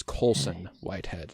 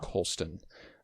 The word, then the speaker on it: Colson Whitehead: It is Colson Whitehead, not Colston.